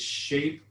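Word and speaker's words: Shapr3D: It's SHAPE, and see how it's spelled, SHAPR 3D.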